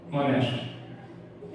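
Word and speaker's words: honest: रहा है तो भी हम एन लगाएंगे जैसे ऑनेस्ट ऑनेस्ट मतलब ईमानदार या एस साइलेंट होता है लेकिन फिर किसका आएगा ऑनेस्ट ऑनेस्ट मतलब ओ का ओ क्या है?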